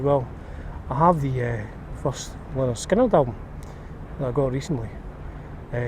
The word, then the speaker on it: Lynyrd Skynyrd: So when I listened to the first Skynyrd album, pronounced Lynyrd Skynyrd, I couldn't believe how good it was.